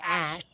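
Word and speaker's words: Æ: do you even it says here okay x ash a12 that that up that weird a e thing is pronounced h but still ashay a12 x-a-12 why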